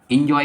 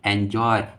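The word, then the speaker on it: enjoy: मजे करना, इंजॉय, एंजॉय, इंजॉय नहीं एंजॉय, एंजॉय, एंजॉय, एंजॉय, एंजॉयड, एंजॉयड।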